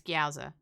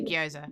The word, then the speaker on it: gyoza: I also recognize we both pronounce it wrong. We've had long conversations about this. We both know. It's Gyoza. Yeah. But we say Gyoza.